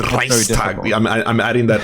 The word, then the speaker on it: Reichstag: Okay, so what about like the Reichstag fire? Is that one? That's it's Reichstag fire. Reichstag. But see, right there, I'm like, right away, I'm like, Reichstag.